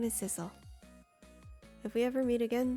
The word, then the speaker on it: Sissel: My name is Sissel. If we ever meet again, that's what you can call me. Sissel, huh? Got it. You know what, Sissel? It rhymes with missile.